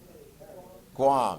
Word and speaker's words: Guam: what's the other one rhymes with your mom not your mom but mom paraguay does not rhyme with your mom guam yeah so we got